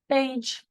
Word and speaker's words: beige: We have an EI saying A, a G saying J, and a silent E. Beige.